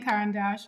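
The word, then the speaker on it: Caran d'Ache: I was pronouncing that I've been saying Karen Dash it turns out that is right um the Crayons the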